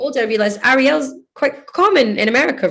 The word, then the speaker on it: Arielle: say Arielle, but then some people say Arielle, like, and they kind of swallow the L's, but then that's their accent. So like, it's just as long as, if you're not calling me Ariel, which you have not called me Ariel once, you called me Arielle.